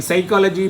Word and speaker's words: psychology: In psychology, P is silent, you say, right?